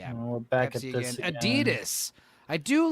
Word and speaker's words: Adidas: But let me let me be every every European I met in DC it's Adidas. Yeah. Adida is another way they pronounce it. They don't pronounce the S which is fun to say but Adidas is also fun to say.